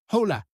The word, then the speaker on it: hola: and sounds different, but this is how you would pronounce it, like open and la like lap. So, hola.